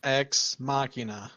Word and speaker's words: Ex Machina: yesterday didn't we yes what was that movie ex machina well you said it right no shocks machinae